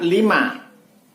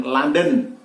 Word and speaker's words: Lima: Huruf L mestinya diucapkan 5, namun masih sering kita dengar diucapkan dengan London. Contoh, JZ11LRN mestinya diucapkan Juliet Zulu 11 5 Romeo November, akan tetapi diucapkan Juliet Zulu 11 London Romeo November atau Juliet Zulu 11 London Radio Nancy.